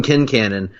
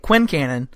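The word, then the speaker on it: Quincannon: fresh air on which by the way you and I have been pronouncing it Quincan for the entirety of our friendship until the show came along and informed us we were idiots. We were idiots.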